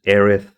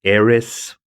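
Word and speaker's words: Aerith: of all you know this is arith uh localized as Aris uh here in the west I think the language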